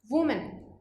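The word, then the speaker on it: woman: तो यहाँ पे देखिए वो की साउंड आ रही थी और यहाँ प्लूरल वाले में क्या हो जाएगा वी, विमेन, वी की साउंड आती है।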